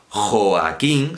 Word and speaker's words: Joaquín: sílaba y ya está si yo digo joaquín serán las sílabas a king otra cosa es que